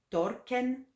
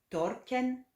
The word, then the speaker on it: torken: Donc 100 ken, 200 à 4 ken, à 4 ken, à 4 ken, 300 sen ken, sen ken, sen ken, 400 torken, torken, torken, 500 mekken, mekken, mekken, 1000 dalen, 6000 jinda